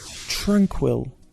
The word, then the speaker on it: tranquil: It can be replaced with an interesting word, tranquil. Tranquil. The pronunciation is tranquil. The stress is on the first part of the word, tranquil.